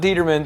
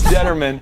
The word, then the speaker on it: Determan: We are back here with Deedra Determan, not Determan. Stop pronouncing it wrong. It's Determan.